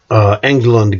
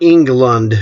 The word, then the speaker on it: Englund: Now it's not Englund, again it's Englund. It's German. So we pronounce it in German rules.